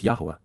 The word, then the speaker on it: Yahowah: the covenant, Berith, the family-oriented relationship agreement, with Yahowah, the proper pronunciation of the name of Eloah, God as directed in his Torah, teaching regarding his Haya existence and our Shalom.